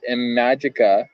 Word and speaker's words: Imagika: You're in with Imagika.